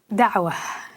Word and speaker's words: Dawa: Dawa is the way it's pronounced.